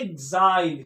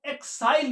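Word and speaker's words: exile: निकाला जिसे बोलते हैं तो फिर इसको क्या पढ़ेंगे देखिए एजाइल क्या पढ़ेंगे एसाइल एजाइल क्या पढ़ेंगे एक्स आई एल ई एजाइल और और इसको हम एक्साइल भी पढ़ते हैं बोथ आर करेक्ट यानी हम इस वाले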